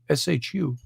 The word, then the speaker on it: Shu: separated by the personification of air the shoe shu the sun god ra or ray rah it's